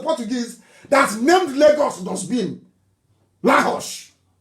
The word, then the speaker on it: Lagos: Lahosh. Lahosh, that's the correct pronunciation.